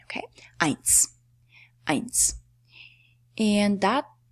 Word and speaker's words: eins: Eins is how you, that's how you spell eins. EI combination, a diphthong. EI is always pronounced as "I" in German. Okay? Eins.